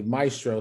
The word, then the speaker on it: Miestro: So it's spelled, most people spell it MAE, but it's spelled actually Maestro.